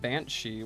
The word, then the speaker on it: banshee: Banshee was originally spelled bean side, which is pronounced the same way. So side is she but with a long e.